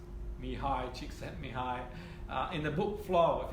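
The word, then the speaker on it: Mihaly Csikszentmihalyi: Okay, pronounced Mihai Csikszentmihalyi.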